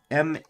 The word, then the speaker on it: Maillard: It is Maillard, the Maillard reaction. That is how you pronounce it, but that is not how you spell it.